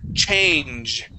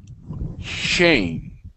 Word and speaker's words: change: But when we pronounce that the CH, it's a punch of air, okay? We say change.